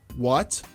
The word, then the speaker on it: what: O H, você pode não pronunciá-lo. Eu prefiro não pronunciar o H nos WHs, tá? É what, where, how, who and when.